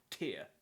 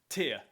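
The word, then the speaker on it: Týr: they are that's how I'm going to pronounce their name Tia as in teardrop however if you ask the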